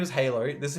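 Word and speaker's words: Hailoh: His name is Halo. This is how you spell it.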